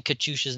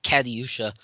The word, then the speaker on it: Katyusha: assured we will be pronouncing katyusha's name correctly this time not caddyusha maybe uh justin yeah